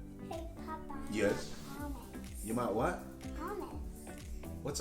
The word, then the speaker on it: hummus: Hummus. You might what? Hummus. What's a hummus? Is it a car? A toy car? No. Electric? That's hummus. Oh, hummus. It's pronounced hummus.